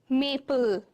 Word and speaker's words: maple: no vowel sound okay the silent e at the end of the syllables Works only as the verbal you only pronounce the consonant and L say for example Maple l l is getting stressed your Maple turtle and purple is getting stressed not e purpley totally it's not that right it's purple turtle